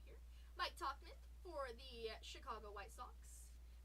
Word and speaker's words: Tauchman: Mike Tauchman for the Chicago White Sox.